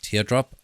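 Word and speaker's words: TRDrop: Uh how I test it is I use a program called TR Drop pronounced Teardrop.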